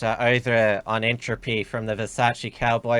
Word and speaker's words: Versace Cowboy: We have got a super chat over on Entropy from the Versace Cowboy. I also learned how to pronounce his name because remember I called him the Versatile Cowboy first.